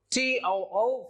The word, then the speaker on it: too: And the sound is a little bit longer, so you have to differentiate too from to.